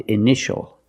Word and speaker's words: initial: We see T-I-A together, so the T is pronounced sh, sh. Initial, initial. My initials are KRL, for Kevin Richard Liddell.